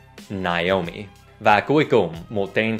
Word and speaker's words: Naomi: đoán là hai chữ AO được đọc là Ao. Nhưng các đọc chuẩn có ba âm tiết, Naomi, Naomi. Và theo mình biết, người Anh thường đọc âm tiết đầu là Nai, Naomi.